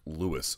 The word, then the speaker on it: Louis: W taking on Luis I keep calling him Luis smoka it's actually pronounced Lewis smoka um here's what I want you to